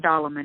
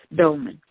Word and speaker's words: dolman: doll iment was well I've not dollar man it's it's I think it's Dolman yeah there's not an A in it two syllables Dolman along the dry path